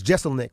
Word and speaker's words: Jeselnik: a Marc Maron it was having a problem pronouncing your name he was going through hi but it's Jeselnik right that's right Anthony Jeselnik is in the